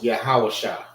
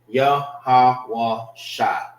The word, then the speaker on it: Yahawashah: Who people ignorantly call Jesus Christ, his name is Yahawashah. Yahawashah. Let's do the connectors. Shah. Or, yeah, that's right. That's right. All right, because the Shah loses its A.